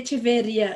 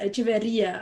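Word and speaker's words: Echeverría: i was correct today totally mispronounced the teresa mira de cheveria echeverria i pronounced her name wrong sorry that is thank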